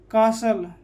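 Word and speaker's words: castle: Breast, या BRISTLE, तो T क्या हो जाएगा, साइलेंट, तो ब्रिसल, ब्रिसल, यहाँ पर बूसल, कासल, ठीक है।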